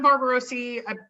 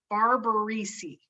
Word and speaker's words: Barbarisi: correct way to pronounce there's no o anywhere in his name barbarisi bar not barbeau reese barbarissi barbara okay sorry